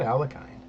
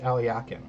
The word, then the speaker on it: Alekhine: owl Al yakin's defense it's not alkyne it's pronounced aliakin if he goes forward